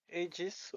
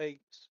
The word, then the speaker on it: Aegis: Aegis or Aegis? You can do both. Both work, to be honest. Alright. Yeah. I think Aegis would be the English pronunciation, and Aegis would be the close to Latin.